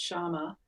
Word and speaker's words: Shyama: pronounce your name sure my name is pronounced shama it's like it's a it's a feminine form of sham and it has the